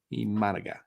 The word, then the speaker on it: Imanaga: it's Iman Iman managa how do you say his name IMA I always get IMA tomorrow imanaga Mana yep and um Austin